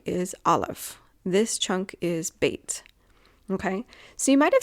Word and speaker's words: Bet: Olive would be first and then bait and sometimes they say vate and then giml and